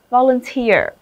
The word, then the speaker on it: volunteer: Các con nhìn thấy từ nào kết thúc bằng đuôi E-E-R, trọng âm sẽ rơi vào chính nó. Volunteer.